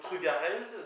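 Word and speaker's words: trugarez: sais pas merci donc trugarz donc là ça me permet de parler pour le peu que j'en sache de l'accent qui est en théorie sur la deuxème syllabe syllabe pardon donc truc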